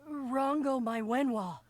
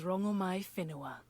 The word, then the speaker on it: Rangomai Finoa: or Rango Mywen, what do I call you? My name alone will suffice. My name is Rangomai Finoa. Oh, we've been mispronouncing you the whole time.